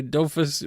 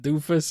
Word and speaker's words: Dofus: Is it Dofus or is it Doofus or what? Am I saying it wrong? It's Dofu. Tofu. Oh, yeah. Okay. It's French. You don't pronounce the S.